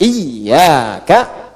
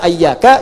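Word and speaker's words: إِيَّاكَ: anahkumuka ya baik baum Jadi ada juga yang baca pakai fathah tapi tetap dalam bacaan salat dan bacaan Al-Qur'an dibacanya pakai kasrah. Iyaka, iyaka, iyaka. Jangan dibaca ayyaka, jangan dibaca hayyaka dalam salat ya kan. Dan jangan dibaca iyaka. Dibacanya apa? Iyaka. Ayo baca iyaka.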